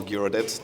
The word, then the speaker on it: Giraudet: yeah my name is jir or gyet depending of the pronunciation you prefer um uh Adrian called